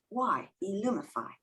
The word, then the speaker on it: Illumify: well that's strange illumify should be there and it's spelled i-l-l-u-m-i-f-y e-lumify so okay so it's familiar but it's not